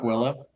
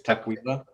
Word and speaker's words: Tukwila: Not Tukwila, it's Tukwila.